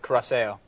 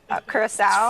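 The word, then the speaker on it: Curaçao: Blue carac. I think that's how you say it. It's coras caraso. Coraso. French. Shoot. I've been saying it wrong for when did I start drinking 25 years.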